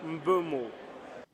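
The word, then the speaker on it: Mbeumo: It was Embomo. It was Embomo. But let's hear it from the man himself. How do you pronounce the name? Brian Bumo.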